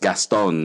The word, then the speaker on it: Gaston: name very French so here in the Philippines it's phonetically it's just Gaston it's a but I